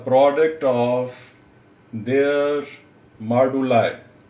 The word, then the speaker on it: moduli: ये actually British accent में यानी ब्रिटिश प्रोनाउंसिएशन में मॉडुलाई पढ़ा जाता है, और अमेरिकन में मॉडुली भी इसको बाज़ लोग पढ़ते हैं। तो आपने इसको मॉडुलाई ही पढ़ना है।